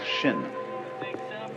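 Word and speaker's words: 心: please pacify my mind in Chinese mind is um this word pronounce shin and shin is here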